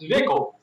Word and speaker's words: Zwickel: They tell me it's pronounced Zwickel.